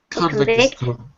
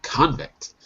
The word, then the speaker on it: convict: Convict. No, convict. Convict. Okay. The stress.